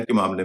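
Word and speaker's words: calm: इन तीनों शब्दों में एल के बाद एम है और इनमें एल का उच्चारण नहीं होता है।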